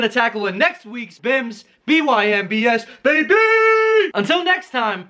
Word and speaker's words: BYMBS: cody michener with today's episode of bymbs pronounce bims blow your mind bible